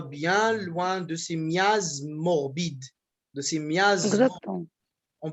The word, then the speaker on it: morbides: Parce que morbide aussi, il y a ES de pluriel. Il faut dire morbide. Et ici aussi, ça va nous donner 2 syllabes. Non, ils ne prononcent pas.